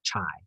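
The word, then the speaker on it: χ: So 13.1, it's called the chi-squared distribution, and it's pronounced chi, like K-I, not chi.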